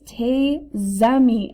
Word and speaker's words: tes amis: So instead of te école, this would sound like, good, it's tes amis.